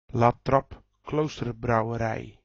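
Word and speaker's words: La Trappe Kloosterbrouwerij: Latrappe Kloosterbrouwerij.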